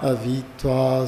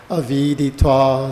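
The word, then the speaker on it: aviditvā: Shri Yadu Vacha Natsahe Jarasa Statum Antara Praptaya Tava Avitva Sukam Gramyam. I don't think I said it right. Aviditva Sukam Gramyam.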